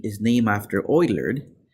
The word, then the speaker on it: Euler: gonna learn our number e is named after Euler it's pronounced lower than E but it still pronounced Euler number E is a number two point seven